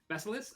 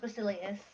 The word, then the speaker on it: Basilius: Basilis? I actually never pronounced your last name. How do you pronounce Zena's last name? That's, her last name's pronounced Basilius.